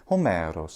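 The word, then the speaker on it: Ὅμηρος: you have a nice long vowel that follows hos this beautiful sliding down hos just like that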